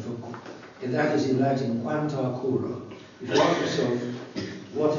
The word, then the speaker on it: Quanta Cura: It signifies a long syllable as it is a short syllable. Short would be Quanta Cura. Long, it's Quanta Cura. In other words, the ablative instead of the nominative. The nominative is short, the ablative is long.